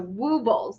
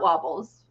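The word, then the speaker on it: Woobles: So Wubbles, not Wobbles.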